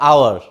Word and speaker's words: hour: Is it hour or hour? I think you all know it. It is hour. We use only hour, but we cannot pronounce H. That's why H here silent, and that's why we have to use here N.